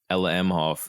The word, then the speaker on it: Ella Emhoff: Ella Emhoff.